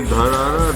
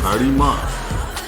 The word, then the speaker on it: Dharara: So Dharara, this has been mispronounced as Dharima by Tibetans.